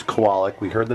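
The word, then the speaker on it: Kowalik: please pronounce your last name to everyone it's pronounced kawalik ladies and gentlemen let that be let's set the record right now it's koalak we heard the name pronounced several different ways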